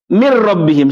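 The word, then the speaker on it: مِن رَّبِّهِمْ: Ini seakan-akan bacanya seperti ini. Min rabbihim. Seakan-akan tidak pernah ada nun di situ. Langsung dibaca min rabbihim.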